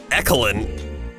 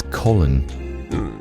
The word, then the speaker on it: Colin: Your name isn't Ecolin. Ecoline? No, it's Colin.